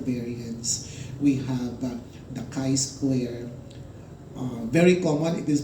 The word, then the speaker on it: chi-square: the analysis of variance we have that the chi-square very common it is pronounced as Chi square number that's not that g square if you have not taken statistics when you